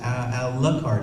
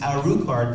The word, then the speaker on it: Alucard: no it's an rl thing and we would pronounce it a luck card and they're like no no no it's our card because it's dracura backwards then you've got to